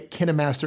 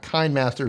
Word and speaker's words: KineMaster: By the way Kih-neh-master is the proper way to say, It it is not Kayn-master, so contrary to popular belief, KineMaster.